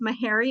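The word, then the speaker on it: Meharry: should have asked you how to say this mahary Medical College is that right that's correct yeah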